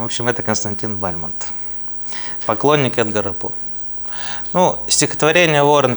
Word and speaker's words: Бальмонт: Эдгара на русский язык с ударением его фамилии Ну говорят что бальман да Или Бальмонт В общем это Константин Бальмонт поклонник эгар Ну стихотворение